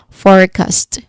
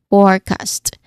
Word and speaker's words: forecast: That's for that is forecast. Again, forecast. It's a prediction about the future. Pronunciation wise, um the four, it's the first syllable, right? It's the stressed one. Forecast.